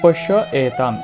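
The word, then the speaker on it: পশ্যৈতাম্: এখানে শিক্ষার্থীরা লেখা আছে পশ্যই তাম, লেখা আছে কি পশ্যই তাম। শিক্ষার্থীরা এখানে একটু আমরা উচ্চারণটা লক্ষ্য করি। এখানে আমরা উচ্চারণ করব পশ্য এ তাম।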